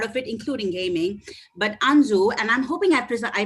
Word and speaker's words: Anzu: a core part of it including gaming but anzu and i'm hoping after i pronounced that right did i itamar both of